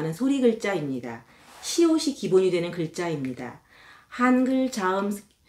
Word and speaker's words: 시옷: 여러분들이 공부하실 때 주의하셔야 될한 가지는 이름이 시읒이 아니고 시옷이라는 겁니다. Not 시읒. You can pronounce it correct. 시, 옷. 이옷할때 옷입니다.